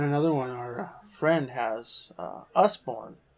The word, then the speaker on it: Usborne: And another one, our friend has Usborne. Usborne, I think is what he said it's pronounced.